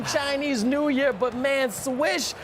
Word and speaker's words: Swish: Happy Chinese New Year, but man, Swish, your name is rhyming with Mish, okay?